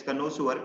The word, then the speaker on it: connoisseur: So one thing is the pronunciation has a sewer in it, not sure, ठीक है। So we pronounce as it's connoisseur।